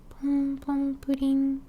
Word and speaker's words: Pom Pom Purin: mom told me that it's pom pom pudding. Pom pom pudding, that's how you say it in Japanese.